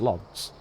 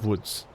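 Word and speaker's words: Łódź: things but I think most people that don't speak Polish or have never heard the place name pronounced just look L Oz and think yeah it's lods you would never think it's woods but there you go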